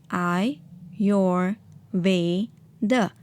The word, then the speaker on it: Ayurveda: that is balancing our doshas in mind evade pronounced as I your Veda is the world's oldest health system originating in